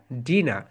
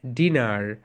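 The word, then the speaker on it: dinner: মানে রাতের খাবার এন্ড তুমি যদি আমেরিকান ইংলিশ বল তাহলে তুমি বলবে ডিনার ডিনার কারণ আমেরিকানরা আর এর প্রোনাউন্সিয়েশন করে ব্রিটিশরা কিছু জায়গায় আর এর প্রোনাউন্সিয়েশন করে কিছু জায়গায় করে না মাই ডিয়ার সোলজারস ওকে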